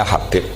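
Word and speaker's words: حبيب: Itu di harokatnya kitab itu ada yang nulis Hubab. Yang benar, oh enggak, yang benar itu bacanya Habib.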